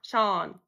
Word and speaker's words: Sean: It's a name. Sean. Where's the shoe and oh? Where? I can see seen, but not Sean. This is Sean. And this is also Sean.